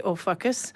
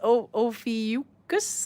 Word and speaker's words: Ophiuchus: It's between the constellations of, I want to say Ophiuchus, but no, it's Ophiuchus, I think, and Serpens.